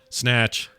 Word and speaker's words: Snatch: mind it it's short it's like Nash snatch one one one syllable I like that it's